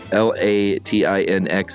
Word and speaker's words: Latinx: Latin X or latinx latinx sounds right because it's Latino Latina sure latinx yeah that